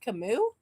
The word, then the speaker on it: Camus: It's pronounced Camus.